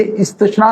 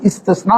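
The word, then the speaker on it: استثنا: हम इसको इस्तिस्ना बोलते हैं। ये इस्तिस्ना नहीं, इस्तिस्ना है, क्योंकि जो हम लोग शीन के डॉट्स समझते हैं वो शीन के नहीं है, वो से के हैं।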